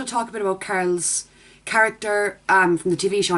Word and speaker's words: Carl: Everyone says that I say his name weird. Carl. Where I'm from it would just be Carl. But that sounds like Carol apparently.